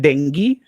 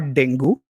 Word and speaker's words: dengue: oh by the way it's pronounced dengue not Deng goo it O'Malley Ali is